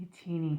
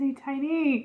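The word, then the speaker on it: ATINY: A-teeny. A-teeny. Who says A-tiny? It's spelled A-tiny.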